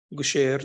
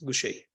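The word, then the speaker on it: Gaucher: lot of people they they may pronounce it as Goucher disease so it should be pronounced as Gucci so I think 30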